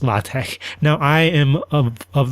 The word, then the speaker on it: LaTeX: And so it's not pronounced latex, but something like lat. And so now apparently based on the authors of this system it's pronounced latte.